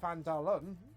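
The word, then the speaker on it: Phandalin: and nearly a human town of vandarian pronounced pandalum was a prosperous as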